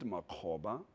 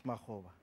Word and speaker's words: Makgoba: want us to clear is it makoba or makoba or makoba it's makova makova yeah any relation to